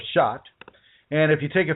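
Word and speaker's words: Chartres: And if you're American, it says it looks like charters because it's spelled chrs. And because we're Americans, we say, "Oh, that says charters." But it's really actually shot or shot.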